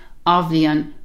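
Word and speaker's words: Athbhliain: And the way this works is you have A, the TH is silent, so it's just A. And then you've got the word for year, which is blian, blian.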